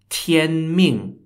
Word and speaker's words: 天命: Mandate of Heaven or known in Chinese as Tien Ming was a way of thinking in ancient and